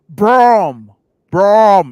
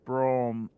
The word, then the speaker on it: Brougham: Brom. It's pronounced Brom.